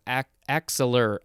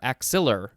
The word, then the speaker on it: axillar: Next we have axillar or axillar. The emphasis is on the second syllable.